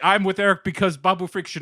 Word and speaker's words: Babu Frick: And not only that, Babu Freak or whatever is fucking. Babu Frick.